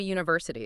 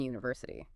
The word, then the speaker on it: university: It starts with a U, which is a vowel, but we don't say an university. Right. That's because university actually starts with a consonant sound. It's that Y sound at the beginning.